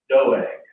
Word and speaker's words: Doeg: Today we're going to talk about, and I had to look up the pronunciation of this, but it's just like it looks. It's Doeg.